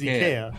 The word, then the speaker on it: IKEA: Yeah, I mean, the Swedish way to pronounce it is IKEA.